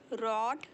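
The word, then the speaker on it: read: of writing पढ़ना रीड इस देखिए इसको बोलते हैं रेड इसे बोलते हैं रेड भले स्पेलिंग सेम है बट हम इसे प्रोन सिएट करते हैं रीड रेड रेड मुझे रात को पढ़ना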